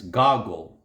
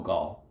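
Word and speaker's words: Gogol: Goggle, not goal. The final L is a soft dissolving L, which does not exist in English.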